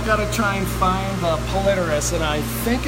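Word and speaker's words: Polypterus: So that is our Platinum Senegal Bashir, or Plecos senegalis, and that second P is silent.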